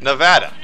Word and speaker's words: Nevada: But then again, I'm not from there, and the people that live in Nevada called it Nevada.